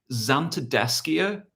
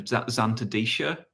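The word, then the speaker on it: Zantedeschia: Oh, there's someone else that's saying Xanthodeschia instead of Xanthodecia, the arum lily.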